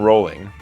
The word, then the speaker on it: Rowling: translated into 84 languages Joanne Rowling not pronounced phonetically was born on July